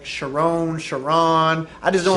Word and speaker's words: Charron: You said it right. But can you spell it right? You spell it wrong. I got it now, though. Because it doesn't even sound like two R's. You know what I mean? Yeah, I know. Because it would be Charron.